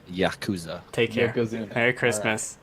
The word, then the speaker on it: Yakuza: Yakuza? Yeah. It's All right. pronounced Yakuza.